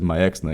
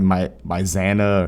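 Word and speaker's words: Maexxna: The fucking narrator literally says Myexna. He pronounces it correctly. I don't know why anybody say like Myzana or Makesna. Bro, like Blizzard literally tells you how to pronounce it.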